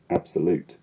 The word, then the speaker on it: absolute: In English, you can have primary and secondary stress, like in the word absolute, absolute, which has a secondarily stressed syllable, an unstressed syllable, and then a primarily stressed syllable.